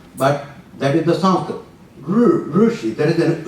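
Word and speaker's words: ऋषि: this this verse rishi there is a common mispronunciation of this we call it rishi like ri as a chi but that is the sample rushi there is an u part in there ooh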